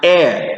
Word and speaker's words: heir: say I am a hair no is not a hair and say I am an heir to the truth I am an heir costly now this word also